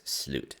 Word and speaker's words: slut: last no pun intended slute this is not pronounced like what you think it is it's slute and it literally means